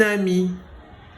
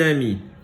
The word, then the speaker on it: amie: Un ami, une amie. Il y a une différence entre les deux. Quelle est la différence? Une amie, il y a un E. Il est en gris, on ne le prononce pas.